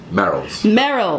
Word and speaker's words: Merrells: Merrells.